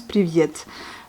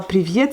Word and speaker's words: привет: Donc on prononce привет. Mais c'est pas привет, c'est привет. Привет.